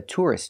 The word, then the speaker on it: tourist: in all of Romania so a tourist is a person put the stress on the first syllable tour tour tourist one tourist more than